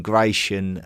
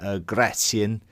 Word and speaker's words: Gratian: But certainly some of the names such as I don't mind calling Gracian Gratian because I think that would be more closely um linked to how you would probably pronounce his name and and Gracian probably